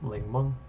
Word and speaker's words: 檸檬: Sounds like the word, so ling-mung sounds like lemon.